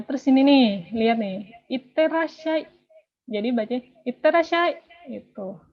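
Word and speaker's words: いってらっしゃい: Ada huruf yang double. Kalau kalian bilang iterashai, iterashai. Itu tuh orang Jepang juga bingung gitu. Pelafalannya kurang gitu. Jadi iterashai gitu. Ini ada su kecil, ada ya kecil.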